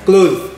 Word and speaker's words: clothes: Ingat ya pengucapan saya, clothes. Dan tulisannya seperti ini. Clothes. Bukan cloth. Kalau cloth artinya kain dan tulisannya seperti ini ya, cloth.